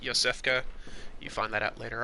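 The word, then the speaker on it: Iosefka: found yourself a hunter yosef cos clinic and it begin to the eye but her name is actually pronounced Yosef qey you find that out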